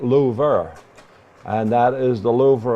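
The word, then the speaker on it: Louvre: the Lou and yes they pronounce it Lou and that is the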